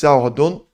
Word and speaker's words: Xiao Guodong: It's Xiao Guodong.